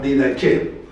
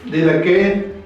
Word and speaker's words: Didaché: A este documento se le conoce como la didaché. Didaché, didaqué, también didajé, es lo mismo, solo cambia la pronunciación según la fuente.